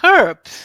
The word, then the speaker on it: herbs: Jenny, you will be happy to know I did the H pronunciation of herbs in one of our recordings a few days ago, and Alan called me out on it.